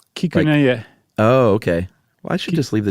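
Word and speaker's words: Kikunae: and his name is Kikune Akita. Is that right? Not bad. What did I get wrong? There's like an extra little half syllable in there. Kikuneya.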